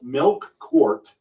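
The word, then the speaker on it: Melqart: Scholars to talk about mcart which is really pronounced milk quart it's really how it's pronounced but it's tied to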